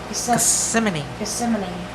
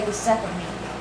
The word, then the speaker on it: Gethsemane: And then you'll see Jesus in the Garden of Gethsemane. I always pronounce that wrong. I always keep wanting to say Gethsemane.